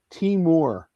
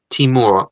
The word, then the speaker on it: Timur: His first name, Ollie, is pronounced Timur. Timur.